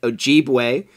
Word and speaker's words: Ojibwe: Johnson from the tribe, we just looked up how to say it, Ojibwe, a scholar from Ontario.